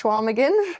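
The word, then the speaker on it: Chequamegon: Um and then the next race after that was Schwamagan spelled Shaquamigan. It's pronounced Schwamagan.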